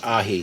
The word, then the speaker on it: Aji: was saying uh it's actually AI Aji is pronounced AI so somebody corrected me I thank you very